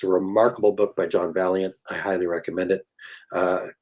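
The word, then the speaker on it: Vaillant: remarkable book by john valiant i highly recommend it uh i know his name looks like violence and as a canadian i would pronounce it violence but he's actually an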